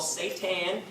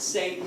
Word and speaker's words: seitan: It's called seitan. Not Satan, seitan.